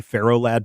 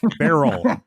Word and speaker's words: Ferro Lad: then and then uh Feralt. I I think they shouldn't call him It shouldn't be Pharaoh Lad, but Feral Ferro Lad.